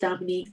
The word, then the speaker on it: Dominque: uh i'm dominique it's pronounced dominique but i have one eye so i can understand why you're messing it up thank you and so